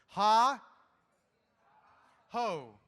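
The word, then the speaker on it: hohóu: Easiest one in Arapaho is 2 syllables. Ha, ho. It's real simple. Ha-ho! The young people say it like this. Ha-ho! Many ha-hos! But just ha-ho. I promise, you go to a powwow anywhere in Oklahoma, and you say, ha-ho.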